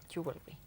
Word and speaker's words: jewelry: Jewelry. Sí, la pronunciación realmente son dos sílabas.